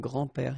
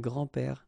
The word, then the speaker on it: grands-pères: Okay, so it's not really difficult, and especially if you think about that, you don't pronounce this S, so actually phonetically it's the same grand-père here and grand-père here.